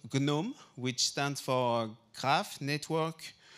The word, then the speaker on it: GNoME: want to ask you about one it's called gnome or gome how do you pronounce it actually just tell us what it's about and what it does sure so uh so it's called gome which stands for craft network uh for material